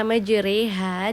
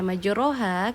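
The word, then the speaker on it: مجريها: Nah, pada kata majriha di sini kenapa tidak saya baca majroha? Karena terdapat tanda imalah.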